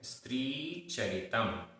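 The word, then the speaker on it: स्त्री चरितम्: यहाँ पर त्र में बड़ी ई की मात्रा है। स्त्री चरितम। कश्चतुरो कश्चतुरो यो न खंडितस्तेन खंडितस्तेन।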